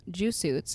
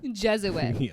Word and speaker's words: Jesuit: to perform an ex you just say juw suit Su yeah is that how you know pronounce it like a Jew suit like you're saying a Jewish person in a suit suit is it jits J say Jesuit yeah Jes you're trying to